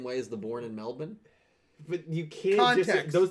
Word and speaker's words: Melbourne: you just said it melbourne melbourne melbourne that's how you say it if you lived in australia i would have no